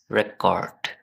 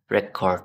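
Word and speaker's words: record: শব্দ প্রোনাউন্স করেন ইজ রেকর্ড যখন এটা নাউন হবে তখন এটা রেকর্ড হবে আর যখন এটা ভার্ব হবে তখন it would be pronounce like রেকর্ড ওকে আজকের মত এখানে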